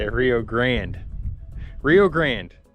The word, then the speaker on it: Rio Grande: Rio Grande.